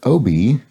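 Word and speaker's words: Obie: I know now that Obi, from a viewer who commented on this several weeks ago, the OB stands for Off-Broadway, OB. It's a phonetic pronunciation of the letters OB for Off-Broadway, given to non-Broadway theatrical productions.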